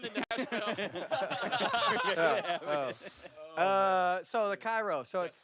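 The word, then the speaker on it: Chi Rho: So the Cairo.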